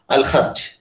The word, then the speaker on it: Al Kharj: You have to pronounce it like Ha, Al Kharj.